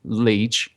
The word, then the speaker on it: Lech: the twin brother of Lech, as I mispronounced Leah before, as I'll use this opportunity.